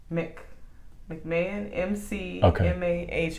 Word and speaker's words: McMahon: I'm not sure how to pronounce that last name. Is it as their new men's basketball coach? McMahon, McMahon.